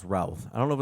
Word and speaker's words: Routh: Brandon I I think it's pronounced Routh. I don't know if it's Ruth or Routh. I think it's Routh.